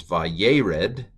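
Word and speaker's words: וירד: So and then we have a, what's under the second letter? It's a sere, a sound. What's the third letter? Segol, and a normal E. So this is vayered.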